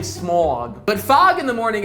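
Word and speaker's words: Smaug: There's a fog/smog, and no, I don't mean the dragon Smog. That's how you pronounce his name, Smog.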